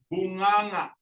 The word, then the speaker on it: bunganga: Okay, now there's a double NG. Okay, everyone, can you say bunganga? Bunganga. Bunga, nga. So the first nga is soft nga, and then the last nga is nga, bunganga. Okay, very good.